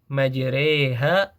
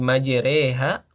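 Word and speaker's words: مجريها: Kalau secara penulisan mungkin kita bisa melihat huruf ro di situ harakatnya fathah majiroha. Tetapi kita membacanya ee lebih ke arah kasrah menjadi majereha karena dia ada hukum imalah ya.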